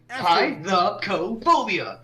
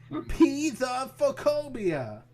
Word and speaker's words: Pithecophobia: Pithecophobia. That's how it's pronounced. Pithecophobia.